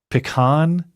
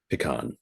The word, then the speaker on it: pecan: Pecan. How do you pronounce the word? Pecan, but I'm also generally from the West Coast, so I think I'm pecan. Is how they pronounce it over in the East.